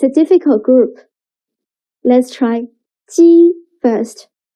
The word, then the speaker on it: 鸡: 鸡.